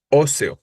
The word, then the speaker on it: óseo: interesa en el c óseo no efectivamente la palabra óseo Aunque es muy breve Aunque es muy cortita es una palabra estrujula o c o no la sílaba tónica es la primera o por lo tanto como